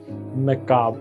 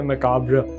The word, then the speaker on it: macabre: American pronunciation इसकी मैकाब है। अब आप इसके स्पेलिंग देखें तो है MACABRE। अमेरिकन प्रोनाउंसिएशन में जो आखिरी RE है वो बिल्कुल साइलेंट है, तो वर्ड है मैकाब, वो RE उसमें नहीं है। ब्रिटिश प्रोनाउंसिएशन के अंदर RE है, तो ब्रिटिश प्रोनाउंसिएशन है मैकाब्र, तो जिसमें RE प्रोनाउंस किया जाता है।